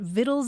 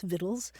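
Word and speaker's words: victuals: the thing is that the old pronunciation was already so well established that people kept pronouncing it viddles anyway so um today you'll see either the word VD spelled uh v t t l e or v t t l s vittles and you'll also see it spelled v c t a LS viddles and you look it up in the dictionary and the pronunciation is viddles for both words so I'm not I'm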